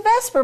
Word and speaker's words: VSEPR: And we pronounce it a variety of different ways. I just say VSEPR. It's a VSEPR model.